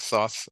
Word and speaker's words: Thoth: Yeah, that's the Greek Thoth as the Greek form of Jehuti.